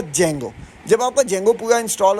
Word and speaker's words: Django: कुछ लोग इसको डीjango पढ़ते हैं। कुछ इसको जेंगो पढ़ते हैं। तो we pronounce it ऐज़ अ जेंगो।